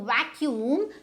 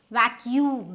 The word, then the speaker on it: vacuum: mistake is vacuum right so vacuum so if you say vacuum do you think it's correct no it's not correct it is lack you see so now why is it this because now the stress is on your vacuum u sound not the c sound vacuum hmm oh so